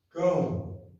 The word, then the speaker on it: Cão: Cão. Ou Cã, né, irmãos? Vamos ser justos aqui, né? A pronúncia fica aí a critério de cada um.